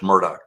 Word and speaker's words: Murdaugh: And so they're uh they will abbreviate uh pronunciation of a syllable we would elongate. And um it's um when you're in front of a college county jury though, it's Murdoch.